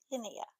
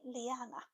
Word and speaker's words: Linnea: But Beardo, Fear the Beardo, he called me Liana.